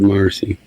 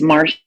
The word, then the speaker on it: Marcia: My bad, Marcy. Or is it Marcia? How do I pronounce it? No, it's Marcia, but you know what? I went for about 30 years taking the A off, 30 or 40.